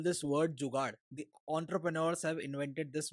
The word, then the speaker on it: jugaad: So how do you spell that with English characters? It's Jugaad.